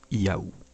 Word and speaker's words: Yahvé: celui du dieu biblique la prononciation originel du nom du dieu devait donc être proche de la séquence des sons yahoo cette hypothèse est d'autant